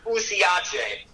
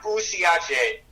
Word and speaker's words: usiache: And the word for don't give up is pronounced usiache. And that is something that keeps me going all the time. Usiache. It's like U-S-I-A-C-H-E. Yeah, usiache in Swahili.